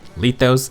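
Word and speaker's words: Lythos: Queen tentative name sifolia on the topic of names apparently light those is pronounced lithos and 80 is pronounced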